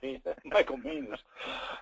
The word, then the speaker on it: Manis: Excuse me, he always says it rhymes with heinous, so it's Michael Manis.